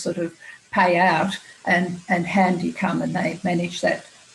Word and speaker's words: Handii: So one of our great founding companies is a company called Handy, which is spelled Handii, and they're just going gangbusters.